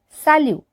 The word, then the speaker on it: salut: Salut. So here we don't pronounce the T.